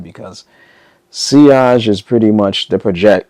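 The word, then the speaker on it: sillage: When it comes to the they I was saying it wrong in the first video. I said silage but I found out that it's seage.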